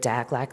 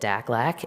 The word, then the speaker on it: DACLAC: And now we have a transportation subcommittee of DACLAC that rhymes with AFLAC, so you don't forget it, DACLAC.